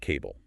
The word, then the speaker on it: CBBLE: They pronounce it CABLE. Cable, okay, like connecting things.